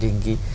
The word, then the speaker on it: ডেঙ্গু: না, সত্যি এটা একটা খুব আপনার এই প্রশ্নটা উপযোগী হয়েছে এবং কারণ হচ্ছে এখন এই ডেঙ্গু ফিভার, ডেঙ্গি বলা হয় অনেক সময়, এটা ডেঙ্গি, অনেক উচ্চারণটা ডেঙ্গি।